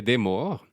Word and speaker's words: D3MOR: Ton nom de scène, c'est Demor. Exact. Donc, ça s'écrit D3MOR. Exact. Pour les personnes qui parlent un peu arabe, ça peut aussi parfois se prononcer Deamol.